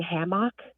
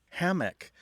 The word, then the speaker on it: hammock: the saying before but there's two separate uh pronunciations of what i call a hammock hammock versus ham ham mock hammock well one thing i'm hearing right away is that there's a difference in stress hammock tends to have